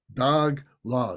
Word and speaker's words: dagla: So to go through this prayer in the Tibetan, we see that some of these words have a hyphen, like dagla, dag la. It's two words, dagla. So they're pronounced together, dagla.